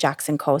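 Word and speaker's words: JXN & Co: And it's funny because it's Jackson and Co. That's how it looks, but it's pronounced Jackson Co.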